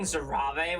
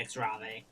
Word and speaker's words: X'hrave: I've been saying Zarav, which is definitely not right. It's definitely Exra. It's Xra for sure.